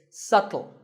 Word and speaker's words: subtle: you say it it's subtle the B is silent subtle means something that